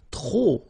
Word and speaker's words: trop: If you want to use trop, and trop means too many, okay? Then you will have to put de and the noun without the article. Okay, remember, too many, trop, don't pronounce the final P.